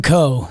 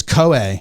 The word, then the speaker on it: Koe: championship curling title Kevin Co three two one nine it's koe it's Kevin koe they were saying they weren't saying Co it was it was like a Hawaiian where you pronounce all the vowels I don't like it